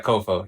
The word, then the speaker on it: COFO: And then, is it pronounced COFO? Yeah, COFO.